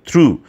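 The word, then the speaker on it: through: করা, সেটা হচ্ছে লুক থ্রু। মনে রাখবেন এটা থ্রু প্রাপোজিশন, আমরা অনেকেই থ্রুটাকে থ্রোর উচ্চারণ করে ফেলি, ভার্বের যেটা ছুঁড়ে মারা, থ্রো মি এ বল, সেরকমটা অর্থে, সেটা কিন্তু হবে না।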